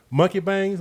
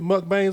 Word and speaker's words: mukbang: videos right yeah yeah it's spelled m-u-k-b-a-n-g but it's mukbang but it's he said y'all be watching them monkey bangs like no not at